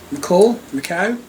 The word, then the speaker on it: Macau: Made in Macau. Macau. I have to say, I've always pronounced it McCall, but I don't think that's the correct way.